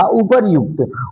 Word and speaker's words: उपर्युक्त: मैंने आपसे बताया उड़ंतुआ र का उच्चारण हमेशा जिस अक्षर पे लगा होता है उसके पहले होता है। य पे लगा है तो उसके पहले होगा उपर्युक्त।